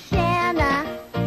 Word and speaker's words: Shanana: countdown my name is shanana it rhymes with banana and that's my friend